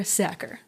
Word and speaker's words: Sachar: I had to look up how to pronounce his last name because I wasn't sure, but according to him, it rhymes with cracker. So there you go. Cracker Sachar, right?